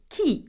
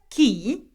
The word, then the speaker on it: qui: how to ask questions with the French word key which means who now we know that key is uh who okay now have a look